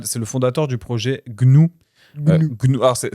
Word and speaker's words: GNU: C'est le fondateur du projet Gnou. Gnou. Alors c'est ça s'écrit GN U mais ça se prononce bien Gnou.